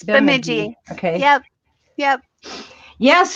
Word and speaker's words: Bemidji: Is that how you pronounce that? Bemidji? It's Sorry, Bemidji. Yep, it's Bemidji.